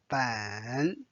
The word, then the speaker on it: 本: learn another measure word ban ban then it's a third tone again it's a major word